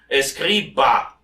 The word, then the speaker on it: Escriba: Escriba, bravo. I spell it for those who are interested.